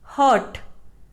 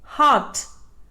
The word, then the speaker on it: heart: it is mispronounced as hurt the correct pronunciation is heart r is silent tomb it is mispronounced